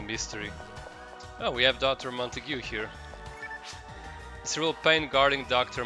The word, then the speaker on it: Montague: I think Montague is how you pronounce it. I used to say Montag, but I'm pretty sure it's Montague, since it's an actual real life name that some people use.